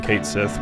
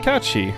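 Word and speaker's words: Cait Sith: other characters say it they just called him Kate Sith because that was the one that people used for a long time and a lot of people were like it's actually catchi and yeah I usually call it catchi just uh out of respect to Irish so I'm here through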